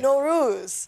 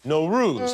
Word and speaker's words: Nowruz: year what is the name of the holiday no ruse no ruse how do you spell that it's many spellings but n-o-w-r-o-o-z oh one